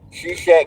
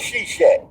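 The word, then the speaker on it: Seshat: S H A No S H E S H A T.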